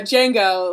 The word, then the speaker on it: Django: The D the D is silent. Oh, okay. Uh, Django.